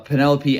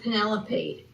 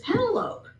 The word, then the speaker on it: Penelope: And it has to do with Penelope, the pronunciation of her name because when I was a child and I would read that name wherever I read it, I always thought of it as Pentalope and it was only I must have been